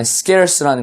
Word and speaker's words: scarce: 자, 그 다음에 scarce라는 거 발음 잘해야 돼요. 이게 scare 무슨 뭐 겁주다 이 단어 이거랑 비슷하게 들리지만 사실 scarce는 희박한, 거의 없는 이런 뜻입니다.